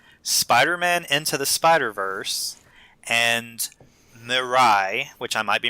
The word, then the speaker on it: Mirai: Ralph Breaks the Internet, Spider-Man Into the Spider-Verse, and Mirai, which I might be mispronouncing. It's Mirai. It's from Japan.